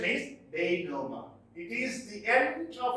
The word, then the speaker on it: denouement: Its pronunciation is denouement.